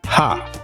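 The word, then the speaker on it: ห้า: The number 5 in Thai is pronounced ha.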